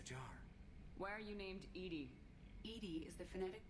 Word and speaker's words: EDI: airlock is a jar why are you named Edie 80 is the phonetic pronunciation of EDI that is an acronym for